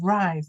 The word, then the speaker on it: rise: So rise. This is rise. It's pronounced I, right? I.